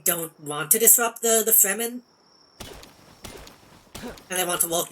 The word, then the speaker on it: Fremen: Yeah, it's pronounced Fremen, but it's very clearly supposed to be free men.